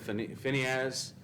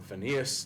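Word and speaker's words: Phinehas: the the story of phineas or phineas depends on how you want to pronounce it the numbers chapter 25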